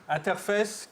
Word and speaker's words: Interface: Enfin, j'aime Interface, qu'il faut prononcer avec l'accent anglais, sous peine de rameuter tous les chaudards du coin.